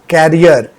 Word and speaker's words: career: ठीक है, लेकिन यहाँ जो वर्ड है वो फ्यूचर से रिलेटेड है, प्रोनाउंसिएशन भी डिफरेंट है और स्पेलिंग भी इसका डिफरेंट है। प्रोनाउंसिएशन इसका है करियर and spelling is CARER।